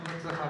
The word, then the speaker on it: 六葉: 六つの葉っぱって書いてね、六つ葉って読むんですけ